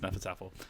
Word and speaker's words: Hnefatafl: it was a struggle uh but apparently it's pronounced nefertar the other thing i played um well i